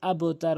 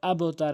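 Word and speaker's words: أبتر: জবর আবে এখানে অধিক আবতার বলে আবতার এটি ভুল উচ্চারণ সঠিক উচ্চারণ হচছে আবেতার আবে আবেতার কেননা বা কলক হরফ কল পাঁচটি রয়েছে বাজিম কফল বাজিম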